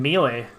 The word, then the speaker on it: Melee: they were friends in melee or melee fight me i don't care i've always pronounced it mealy and i get like